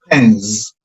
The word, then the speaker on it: pens: Lo que tenemos que decir es pens, pens, una Z. Pens. Es una Z bien cortita, ¿ya? Pero tiene que estar ahí. Pens, pens.